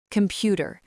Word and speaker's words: computer: The robot says com-pu-ter. Every sound is clear, but the native speaker finds the king. The king is pu, so the O at the beginning becomes a ghost sound, ka. The at the end becomes a ghost sound, ta. Listen, ka-m-pu-ta. Computer.